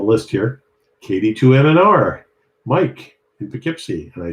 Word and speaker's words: Poughkeepsie: KD2MNR, Mike in Poughkeepsie, and I said it right.